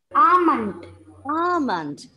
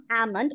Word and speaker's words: almond: Ananda and Fia, it is not almond. Of course, the L was silent. That is right. The L was silent and you pronounced it correctly, but the sound should be ah. Okay, the long sound. Almond. Okay, Ananda, you can continue.